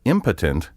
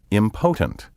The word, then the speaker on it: impotent: misplaced stress for example impotent is often mispronounced impotent disparate is often mispronounced